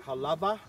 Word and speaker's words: Halawa: Now it's pronounced Halava. Yeah, even Halava. Even though it's a W, like Wa, but. Yeah, because in Hawaii, the language, in certain places in Hawaii, the W is pronounced with a V.